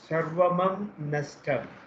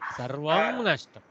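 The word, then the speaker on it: सर्वं नष्टम्: Sarvamam nashtam. No, sarvam only. Sarvam nashtam.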